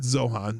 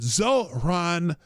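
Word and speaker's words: Zohran: Not Zohan. Zoran Mamani.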